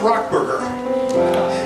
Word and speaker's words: Rock Burger: it's called ro k BR gr and it's pronounced rock burger it's down at not L right is it